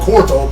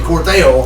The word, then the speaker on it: Cortell: It's even been mispronounced several times and called Cortell, but it's actually Cortell.